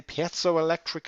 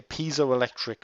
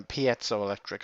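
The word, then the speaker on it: piezoelectric: and that is the pzo electric effect. I believe I pronounced that right. I hear pole electric or pu electric or whatever uh pzo electric I believe it is.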